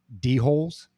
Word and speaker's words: dhole: heard, and I'm assuming this is how you pronounce it, D-holes? Yeah, well, you're talking D-holes? To two of them right now. Yeah, I mean, I've heard doles. Yeah. I guess it's doles, right?